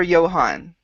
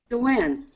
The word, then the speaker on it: Joanne: Is it Joanne or Johan? Joanne. Joanne, okay.